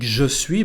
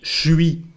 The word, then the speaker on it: je suis: and the verb sui we don't say when we speak je suis but something like shui repeat and finally we